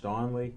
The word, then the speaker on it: Donnelly: Rich Donnelly, that's how you pronounce it.